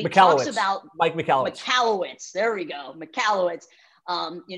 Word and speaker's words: Michalowicz: Michalowicz, there we go, Michalowicz.